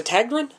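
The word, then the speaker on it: Tägtgren: do you say your last name is a tagrun yeah okay i wanted to make sure i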